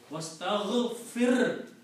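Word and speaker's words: وَاسْتَغْفِرْ: Wastaghfir. The last letter has a sukoon on it. Even though who is after that, but you have to pronounce this clearly.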